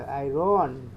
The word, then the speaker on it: iron: ये तो बंगाली की तरह बोली से आयरन ऐसे बोलना है।